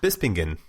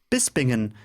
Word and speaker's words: Bispingen: is located in Beast bispingen how do you pronounce that bispingen bispingen yes in bispingen in case in case you didn't hear it